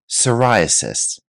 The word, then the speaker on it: psoriasis: Let's move on to our fifth term, psoriasis. Notice here the P is silent. Psoriasis.